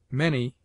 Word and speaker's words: many: Many is pronounced as if it were written M-A-N-N-Y. Of consonants.